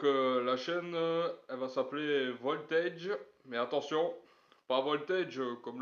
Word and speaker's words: Voltaije: C'est parce que quand les gens prononcent mon nom, quand ils voient ma chaîne, ils disent, ils disent tous très souvent voltage. Parce que c'est à cause du le AGE, ça donne âge.